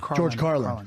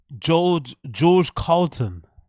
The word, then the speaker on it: George Carlin: a fan of acquaintance who inspired here George Carlin who inspired him George Carlton foreign that's that's the best one George Carlton how can someone inspire you you don't know how to pronounce her name he's a huge inspiration